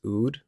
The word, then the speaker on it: oud: that I like are I think it's pronounced oud it's like UD um and like a